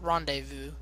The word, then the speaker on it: rendezvous: I used to always call that word rendezvous when I was younger. Yeah, I know it's not rendezvous, it's rendezvous.